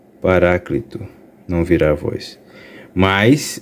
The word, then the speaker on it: Paráclito: Independente da sua pronúncia, Não há um problema em dizer Paracleto, porque é a leitura natural na língua portuguesa, mas o Paráclito, ok, é a mais próxima do original grego.